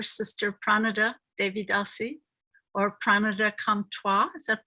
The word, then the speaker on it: Pranada Comtois: This is Rukmini Walker, and I'm interviewing today my very dear sister, Pranada Devi Dasi, or Pranada Comtois. Is that pronounced correctly?